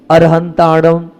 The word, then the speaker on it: अरिहंताणं: नमो और तीनों बार में मैं चेंज करता हूं। अरहंताणम अरिहंताणंम अरुहताणं तीनों पाठ मिलते हैं।